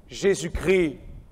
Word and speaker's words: Jésus-Christ: Au passage, en français, sachez qu'on dit le Christ, mais on prononce Jésus-Christ. Ne me demandez pas pourquoi. C'est une règle de français. Souvent, j'entends des gens dire Jésus-Christ, mais en français, on dit Jésus-Christ. C'est comme ça.